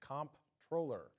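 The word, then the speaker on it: comptroller: state comp troller and yes for those who are wondering it is pronounced in this case comp troller Governor Eric hul appointed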